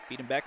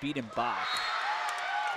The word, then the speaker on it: Biedenbach: Biedenbeck still serving. I keep saying Biedenbeck, I mean Biedenbach.